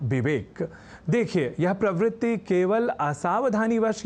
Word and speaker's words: विवेक: जैसे कहना और लिखना हो विवेक, तो लोग कह जाया करते हैं विवेक या विवेक।